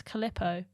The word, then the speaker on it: Calippo: to say calipo's and my friend was like it's not caliper and then she started making fun of me and I was like what do you mean how do you say it and apparently it's calippo yeah but I always